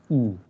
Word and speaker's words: y: Y is pronounced here as E.